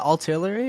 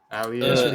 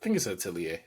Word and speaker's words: Atelier: Is it Artillery or is it Atelier? Atelier. I think it's Atelier. Really? Oh, I've been saying it wrong this whole time.